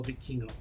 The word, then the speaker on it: Vikingo: thinking like I kept trying to say Viking or something to that effect. And once I finally heard it enough, it was like, oh, it's Vikingo.